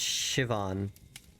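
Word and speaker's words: Siobhan: Sioban, pronounced Shivon.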